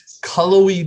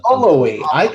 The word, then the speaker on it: Cullowhee: And how do we pronounce the town that Western Carolina is located in? Cullowhee, North Carolina. Cullowhee.